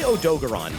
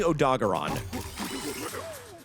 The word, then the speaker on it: Odogaron: Gaon's head with Odo's face on an o on an odogaron. Odogaron. Odogaron. Odogaron. I say Odogon, but it's definitely Odogaron cuz he's a dog.